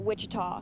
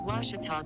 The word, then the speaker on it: Ouachita: at a baptist university back in texas everybody pronounces it wichita but really it's ouachita washington washington how would you pronounce it it's washita baptist university get it right it's water tall